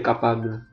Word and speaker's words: capable: Kemudian ini itu huruf E yang terakhir agak diucapkan, tapi sedikit aja. Capable. Sedikit capable. Jadi E-nya itu hanya sedikit aja diucapkan.